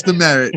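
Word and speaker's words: Demeritte: up that's how you say it yeah travis the merritt travis the merritt um he is only six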